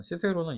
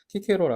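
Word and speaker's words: Cicero: 개념에서 으로 간다 그럼이 시세로는 사람은 시세로는 영어식 발음이고 한국 같은 경우는 라틴어 발음을 따라가기 때문에 우리가 읽고 표기할 때는 키케로 아고 말을 합니다 아키텍트 건축가를 어떻게 분류를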